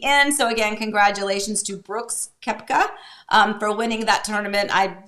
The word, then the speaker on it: Brooks Koepka: Brooks Koepka.